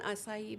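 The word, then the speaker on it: açaí: get yourself an acai bowl and say it like that.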